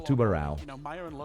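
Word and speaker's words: Tubarão: Thunderbird goes with Tubaro, Capitao, Tubarao. That's how you pronounce it, Tubarao.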